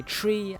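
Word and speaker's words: three: But for 3, we say tree, and for 9, we say niner. That simple.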